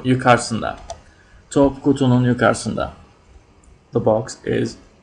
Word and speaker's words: yukarısında: But we usually don't pronounce the first U, so it becomes yukarısında. When we write it, it's always there, but when we pronounce it, it's a little faster, so yukarısında.